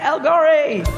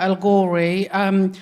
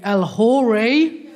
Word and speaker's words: El-Ghorri: So, as Deborah said, my name is El-Ghorri, but my surname's got a H in it. It's a silent H, but a lot of people pronounce it, so they always call me El-Ghorri.